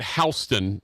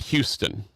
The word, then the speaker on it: Houston: And they pronounce it Houston, not Houston.